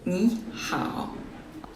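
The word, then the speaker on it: 你好: Le premier se prononce au 2e ton. Donc, c'est Ni hao.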